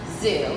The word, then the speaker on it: Tzu: it's written by sun zoo it's spelled t-z-u so it's a little tricky to pronounce i looked it up in the international chart it wasn't to zoo or something like that um but he has